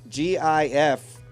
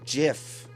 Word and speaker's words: GIF: right the creator of gif says is it is pronounced jiff not gif right so there's a creator of the Giff greatest and he says it's pronounced jiff really yeah you just